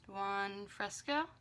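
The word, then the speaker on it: Buon Fresco: from Modern Renaissance and it is okay it's pronounced one fresco it's just this like lavender e purple shade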